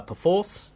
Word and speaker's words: Perforce: is not correct so imagine it as a p sort of apostrophe force not a pyen force